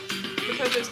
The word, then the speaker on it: Makoto: It's not for sure that Makoto's guilty yet.